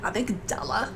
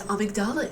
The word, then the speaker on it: amygdala: get the frappa mocha avigdala i know so many people so many people have told me no ariel it's amygdala it's amygdala i get that